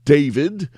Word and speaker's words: D4vd: American singer and rapper David, spelled with the number four, David Burke, was arrested